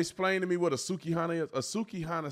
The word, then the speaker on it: Sukihana: I think that's how she said her name. I guess I got the girl name wrong. It's Sukihana.